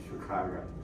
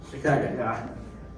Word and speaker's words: Chicago: That's the proper pronunciation, by the way, Chicago. Chicago.